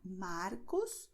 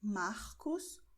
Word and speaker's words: Marcos: Porque a letra R está diante de uma consoante. Mesma coisa que aconteceu com Marcos, ok? Você pode pronunciar Marcos, Roberto, mas também você pode pronunciar Marcos, Roberto, ok?